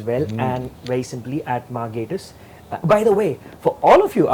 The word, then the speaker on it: Gatiss: and very simply at Gatiss. By the way, for all of you out there who've been mispronouncing his name for years, that's how it's pronounced. I got that right? Just think gay.